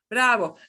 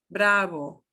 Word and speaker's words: bravo: somewhat hard to be bravo the second the second sound there is going to be much softer bravo okay uh and here